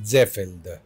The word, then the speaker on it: Seefeld: Y lo que pasa es que la doble E es, normalmente, como todo el mundo piensa que es inglés, se pronuncia I, y claro, como es alemán, la doble E es E.